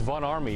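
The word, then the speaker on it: Von Ormy: It's Von Army. It's pronounced with an A.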